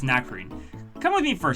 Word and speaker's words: Nacrene: It might not be pronounced... It might be pronounced Nacerene. But I think it's Nacrene.